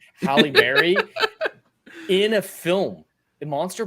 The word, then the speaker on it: Halle Berry: you keep saying that he banged Haley Berry or half uh screwed up my pronunciation and Halle Berry Halle Berry in a film in